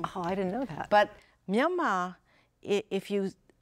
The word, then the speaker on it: Myanmar: Which means itís far past time for us to know how to pronounce the new name of Burma, which is Ö Myanmar.